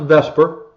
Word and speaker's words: VSEPR: okay Vesper even though it's spelled VSEPR it's pronounced Vesper and now we're going